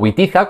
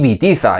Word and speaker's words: Witiza: the previous episodes that Wamba or Witiza is not pronounced as I pronounced it, but rather Vamba and Vitiza and according to the